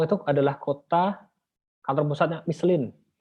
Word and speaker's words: Michelin: adalah kota kantor pusatnya Michelin, atau kalau mereka tuh bilangnya Mislang, karena in itu dibacanya eng ya.